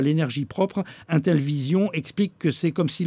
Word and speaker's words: Intellivision: Et la société séchelloise, j'imagine qu'il y a une autre prononciation à cette société, Intellivision. Intellivision, tout simplement. Comme ça s'écrit.